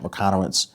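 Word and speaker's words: Michalowicz: I think he pronounced his last name Mike McConowitz.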